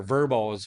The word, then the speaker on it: VRBO: like your VRBOs or verbos, right? That's how that's technically how they say it, right?